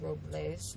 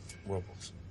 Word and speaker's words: Robles: it us approvals well the correct pronunciation is Robles but they call it Robles whatever I hope it's